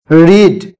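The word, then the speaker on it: read: Late তারা বই পড়েছিল রিড রিড রেড রেড উচ্চারণটা আলাদা হবে বানানটা বা স্পেলিংটা একই থাকবে তাহলে তারা দে রেড বুক তারা বই পড়েছিল।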